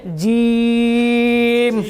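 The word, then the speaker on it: جيم: নিচে নোক্তা একটি থাকলে এটার উচ্চারণটা করতে হবে একটু শক্তভাবে। উচ্চারণটা করতে হবে শক্তভাবে। বাংলায় বর্গীয় জয় রসইকার ম জিম যেরকম হয়, দীর্ঘইকার, বর্গীয় জয় দীর্ঘইকার ম জিম যেরকম উচ্চারণ, ওরকম উচ্চারণই, কিন্তু একটু শক্ত আওয়াজ দিয়ে বলতে হবে।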